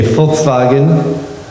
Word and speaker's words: Volkswagen: Okay, Volkswagen, spelled with a V, but it's pronounced like an F.